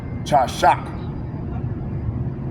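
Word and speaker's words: חשך: Because you know there wasn't no O's or no E's, so that would be pronounced chashak.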